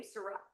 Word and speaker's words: Sirat: I'm going to jump to Zoom really quick and apologize if I mispronounced your name, Sirat Sirat? Yes, Sirat.